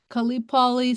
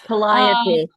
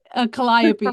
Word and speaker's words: Collopy: Uh, Khalipi says, "In your experience, sorry if I if I mispronounced your name, I apologize in advance." Collopy. Collopy. Yes. Sorry. Collopy.